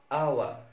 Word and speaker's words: hour: الحالة الثالثة لحرف ال H إن ال H is also silent at the beginning of many other words. ال H بتبقى silent أو لا تنطق أو صامتة في بداية العديد من الكلمات. Like our, honest, owner.